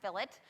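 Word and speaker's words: fillet: a Filat is I know it looks like filet I promise it's pronounced Filat alright I learned that the hard way so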